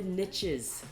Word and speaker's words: niche: As they say, the riches are in the niches. And technically, it doesn't rhyme because... That's how Americans say it.